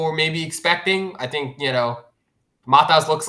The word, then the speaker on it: Matas: How do you say Maltese? Matas Bazelis? Yeah, Matas.